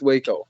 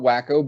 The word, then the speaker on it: Waco: I'm pretty sure it's pronounced Waco, right? Correct? Yes, Waco, Texas, yeah. Yeah, okay. Because I've heard people call it Wacko, but in my heart it's always been Waco.